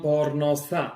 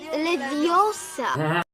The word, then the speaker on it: Leviosa: Widziałam pornosa. Mówisz to źle. Jest Leviosa.